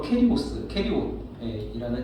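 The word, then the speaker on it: קריות: 그래서 유다의 인적사항에 대해서 이야기하고 있는데 이 가룟이라는 곳이 이제 원어 발음으로 캐리옷이라는 지역에 시몬의 아들이고 이게 성경에 딱 한 번 등장을 합니다.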